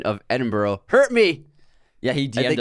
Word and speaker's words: Edinburgh: So I got the pronunciation right here. Ready? Let's hear it. Edinburgh.